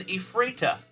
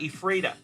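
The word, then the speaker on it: Ephrata: in the chat it is spelled e p h r a t a t a e frea so my cousin's on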